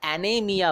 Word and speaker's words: anaemia: অ্যানেমিয়া, ANAEMIA, আবার এখানে ইটা silent থাকবে, তাই অ্যানেমিয়া বলছি, অনেকে অ্যানেমিয়া বলে। ওকে, ইটাকেও উচ্চারণ করে।